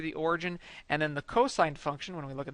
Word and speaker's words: cosine: cosine function and it is spelled cos don't pronounce that Coase or cost it's cosine it's just an abbreviation so cosine function and